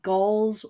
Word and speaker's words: Gaahl: Yeah, and the artist behind that is Gall's Weird. Okay, you gotta spell that.